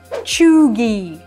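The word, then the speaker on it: cheugy: Глядя на это слово произносится оно как чуги Ага вот так произносится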